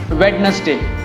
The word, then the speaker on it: Wednesday: ये तो बहुत ज़्यादा मिसप्रोनाउंस होता है. इसको कहते हैं Wednesday.